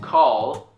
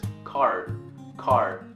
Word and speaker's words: call: That's why a lot of Korean people cannot pronounce this word correctly. Call. A lot of Korean people would pronounce it as car.